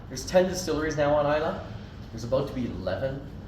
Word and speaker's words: Islay: west coast of Scotland called Isa it it's not pronounced ISL so let me help you there um Isa is a